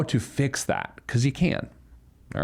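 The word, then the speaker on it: phở: office we call it f because if you're pronouncing the uh the the noodle soup dish correctly it's not fo it's F anyway uh so at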